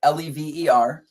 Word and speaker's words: Lever: It's spelled Lever. And you could say lever or lever. We say lever in the band, but if you say lever, we're not upset. We're not upset about it.